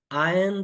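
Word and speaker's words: iron: आयन the clothes, ध्यान दीजिए कि इसमें से आर साइलेंट रहेगा, तो आई आयन द क्लोथ्स।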